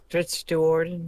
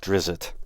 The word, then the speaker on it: Drizzt Do'Urden: Drizzt Do'Urden, yes. Yeah. For the longest time, I thought it was pronounced Drizzit. Then someone says Drizzt.